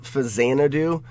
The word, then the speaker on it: Faxanadu: And I think that's where people call it Fazanadu, because the X can be pronounced as a Z, and it was a lot of times in like old NES games.